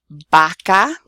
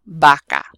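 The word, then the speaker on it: vaca: There are a couple of different sounds, but what I want you to avoid is saying V for the letter V and B for the letter B, because they are both pronounced the same. So here I have boca, baca. Both of those are pronounced the same. They're both pronounced like a b sound.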